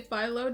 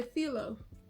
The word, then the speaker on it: phyllo: So fun fact, we say phyllo dough in the USA. Greek people say phyllo.